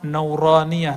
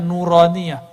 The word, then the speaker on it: nuraniah: Makanya ribat tuh kita kasih nama nauraniah. Itu bacanya nuraniah.